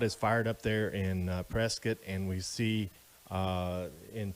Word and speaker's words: Prescott: it it looks like prescott boy don't say that when you're around here the local pronunciation and the correct pronunciation is prescott so we're gonna be